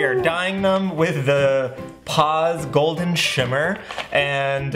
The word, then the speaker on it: Paas: dyeing them with the pause golden shimmer and on Long Island we pronounced that pause pause okay let's get this